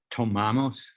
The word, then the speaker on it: tomamos: So, tomamos. Tomamos. Amos. We punch the a part.